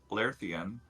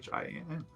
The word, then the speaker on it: Larethian: You see a wood elf with long braided hair, and like the elven god Corlon Lerthian, Fala kind of. I'm sorry, the lady's name is Fala Lafalier. That is spelled F-A-L-A.